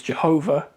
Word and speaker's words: Jehovah: One way to try and pronounce it is Jehovah and another way is Yahweh. Yahweh is what most modern linguists think is probably close to accurate.